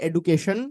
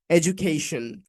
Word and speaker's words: education: So আমরা সাধারণত এটাকে উচ্চারণ করে থাকি যে education এভাবে করে। That's not the correct pronunciation. We can say it's education.